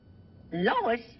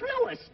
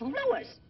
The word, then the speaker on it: Louis: at the plant Lois Lois my name is Lewis not Lois toy believes me name wrong it's Lewis l o u i s Lois uh